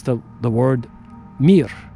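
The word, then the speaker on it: мир: In Russian, it's the the word mir. M I just three letters. Mir just like the space station.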